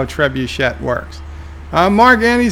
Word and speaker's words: trebuchet: Lundell's Groovy Movie says do some research on how the trebuchet. Alexa, how do you pronounce trebuchet?